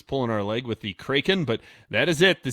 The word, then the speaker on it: Kraken: People are saying it's pronounced Kraken. Kraken?